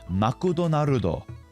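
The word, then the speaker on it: マクドナルド: For example, McDonald's in Japanese is makudo narudo. It's the same word just following Japanese pronunciation rules.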